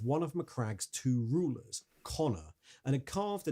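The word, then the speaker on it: Konor: Spelled with a K. One N and an O. Still, it's still Connor.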